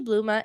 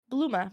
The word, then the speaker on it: Bluma: Bluma. B L U M A. Oh, okay. I was like doing like bluma like a like a like a flower bloom.